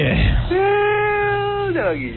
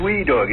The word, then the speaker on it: well doggy: well doggy. You had to spell that right. You know, W-E-L-L-L-L. That's great. It's not wee doggy. It's well doggy.